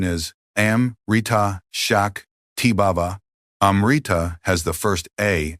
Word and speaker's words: Shakti: The proper pronunciation is amita shak tiba. Amriita has the first a as in about. The i as in meet and the final a as in about. Shakti has the sha as in shine.